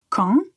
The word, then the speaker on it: quand: beaucoup de possibilités mais il faut savoir bien prononcer ce mot quand c'est nasal donc on prononce la lettre A de façon nasale quand quand est-ce qu'on